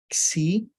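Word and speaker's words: ξῖ: Xi, xi, pronunciado aqui como X, né, de táxi.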